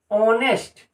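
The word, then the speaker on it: honest: से start letter है लेकिन ह साइलेंट है और इसका जो प्रनंसीएशन होता है वो ओ से होता है ऑनेस्ट तो आप यहां पे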